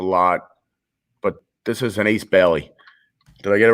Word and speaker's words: Ace Bailey: Upper Deck does a lot, but this is an Ace Bailey.